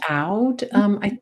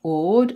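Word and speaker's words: Aud: I pronounce it Oud, and most people pronounce it Odd, and I suspect Norwegians pronounce it somewhere in between. So use whatever pronunciation you like.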